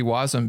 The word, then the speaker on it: wasm: where I mean jar Jared argues that it should be wasm because then it sound rhymes with awesome and so we can